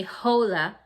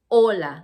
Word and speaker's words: hola: just an expression and it's written like this hola remember the age in spanish is silent so you don't say hola you say hola like the age is not there so anybody